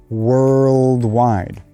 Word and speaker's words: worldwide: is actually that combination just like in the word curl or girl worldwide one of the things that you can do in order to make this word a little bit easier is actually add a little bit of a after the r sound world world world try